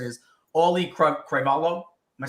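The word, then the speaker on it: Auliʻi Cravalho: just but it's so hard to say is Ollie cravalo am I saying it right nobody knows but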